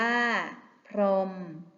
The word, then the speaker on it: พรหม: หีบ อยู่ กลาง คำ บาง คำ แม้ ไม่ มี เครื่อง หมาย ทันต กำกับ ก็ ไม่ ออก เสียง เช่น พราหมณ์ อ่าน ว่า พราหมณ์ พรหม อ่าน ว่า พรหม เกียรติ อ่าน ว่า เกียต